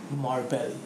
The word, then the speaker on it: Marbely: brand new R&B artist and her name is Marvin all right yeah yes I pronounced alright so now I have the floor